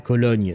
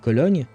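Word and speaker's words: Köln: Uh Colon Oh, Cologne, right? That would be how you say it in English. I think Colon will be would be the German way of saying the name.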